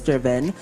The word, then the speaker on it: DRVN: vn ilo PH so it's spelled as Dr vn but it's pronounced as Driven so we have an